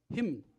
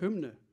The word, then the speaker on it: Hymn: Und von dieser Platte spielen wir jetzt ein Stück, das spricht man so aus. Hymn. Aber es heißt Hymne.